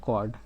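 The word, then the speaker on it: chord: कॉर्ड। सी एच ओ आर डी। पहले तो हम स्पेलिंग इसका चड लगाते थे लेकिन होता है कॉर्ड।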